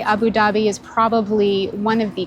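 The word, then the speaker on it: أبو ظبي: It's pronounced Abu Dhabi.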